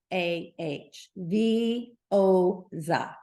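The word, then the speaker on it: Veozah: this is non-hormonal It's called The ozap and it's spelled v-e-o-z-a-h v o Za that's how it's pronounced it is it works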